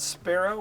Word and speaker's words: Spero: car is done and the car is called Sparrow which is Latin for I hope and it's not spelled like Sparrow the bird so I just want